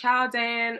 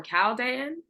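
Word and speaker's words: Chaldean: this episode yes even two different ways it could be pronounced Chowan or calan um I interchange them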